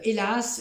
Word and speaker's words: hélas: Donc, par exemple, on dit hélas, je ne pourrai pas aller à ton anniversaire. Répétez après moi. Hélas. Oui, c'est ça, on ne prononce pas la lettre H.